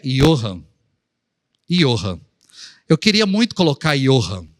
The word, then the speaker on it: Johann: Como é que vou explicar para uma criança que o nome dela pronuncia I, mas se escreve com J?